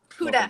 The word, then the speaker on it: Huda: Huda.